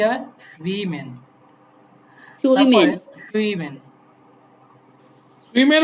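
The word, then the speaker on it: schwimmen: এস সে হা প্রথমে থাকলে স এর মতো উচ্চারণ হয় না? হ্যাঁ, তাহলে কি হবে? সুইমেন। সুইমেন, সুইমেন, সুইমেন না জিসমেন, সুইমেন না জিসমেন কেন?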